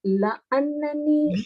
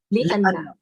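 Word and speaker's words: لأنّ: When you are saying because, how do you pronounce that? Is it la'annani or li'anna? Yeah, li'anna. It is li'anna.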